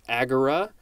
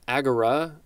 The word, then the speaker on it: agora: Second form of agora, looks like it is pronounced agora, with a little bit more emphasis on the r.